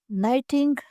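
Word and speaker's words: knitting: इसे इंग्लिश में नाइटिंग नीडल बोला जाता है। इसमें भी के साइलेंट है।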